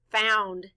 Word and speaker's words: found: The letters O-U stand for the sound ow.